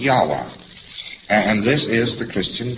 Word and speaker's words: Yahweh: able to pronounce it, so they omitted all of the vowels in the word. And they spell it only with its consonants. So Lord knows how this word is to be pronounced. But more agreed upon pronunciation amongst scholars so they can talk about it is Yahweh.